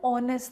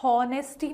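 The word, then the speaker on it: honesty: करते हैं, वैसे ही ऑनेस्टी को आप प्रोनाउंस हॉनेस्टी नहीं करते हैं, ऑनेस्टी करते हैं।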